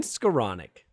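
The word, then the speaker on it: Skowronek: Before we do that, there's a few roster things, inactives, Skoranek things happening. You know what I'm saying? So yeah, look at you, like a regular pronunciation superstar. Ben Skoranek.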